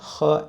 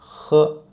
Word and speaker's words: h: And the difference between H and Ha is that we produce a schwa sound in Mandarin. So it's more like H. And when you pronounce H, you can feel there's friction in your throat.